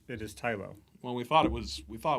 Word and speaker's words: Tylo: I hear people pronounce it Tylo or Tilo. I always pronounce it Tylo. I pronounce it Tylo. We are the deciders, right? So it is Tylo.